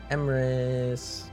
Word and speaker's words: Emrys: Emrys rhymes with abyss.